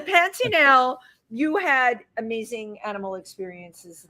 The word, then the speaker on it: Pantanal: It's like Pantera, the place you eat at, but the Pantanal, you had amazing animal experiences there.